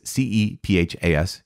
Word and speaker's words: Kepha: or i belong to kefa i know it's c-e-p-h-a-s which is cephas right but kepha i think is the one acceptable pronunciation of the name of peter or i belong to